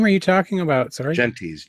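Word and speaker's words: Gentes: Genties. G-E-N-T-S. Genties. Oh, yes. like gents. Probably butchering that as like gents, but with an E, yes. Yes. Gents with an extra E.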